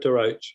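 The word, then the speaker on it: De Roche: Everett DeRoche, yeah. DeRoche.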